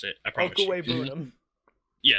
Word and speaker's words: Okwuegbunam: Pronounced Okwuegbunam. Okwuegbunam.